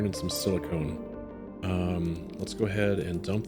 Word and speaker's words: silicon: Is that silicone? No, that's iron. That's silicone right there. Silicone. I've been saying it wrong this whole time.